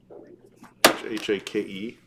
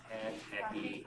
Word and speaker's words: hake: This is a hack brush. H A K E. Hack. Some, how do you say it? Hacky, maybe? Hacky. Hake. Hake? There's three different ways of saying it.